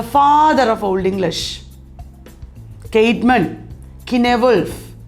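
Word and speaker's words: Cynewulf: of old english kaitman kinevolf sometimes he is pronounced sign wolf ill frick venerable bead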